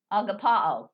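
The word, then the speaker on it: ἀγαπάω: So, it's actually going to read agapao. Agapeo. Agapeo. Agapao. That's how I was trying to pronounce it.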